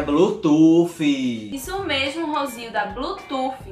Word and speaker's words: Bluetooth: Ser bruxa. Ser bruxa, não é ser bruxa não. Minha gente, é Bluetooth.